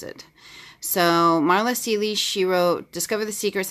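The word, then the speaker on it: Marla Cilley: show you here it's called sink reflections by Marla Sealy oh yeah that's how you pronounce it so Marla Sealy she wrote discovered the secrets that I've changed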